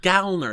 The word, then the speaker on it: Gallner: gallner which I found out you're supposed to pronounce it gner it's not g we always said gner okay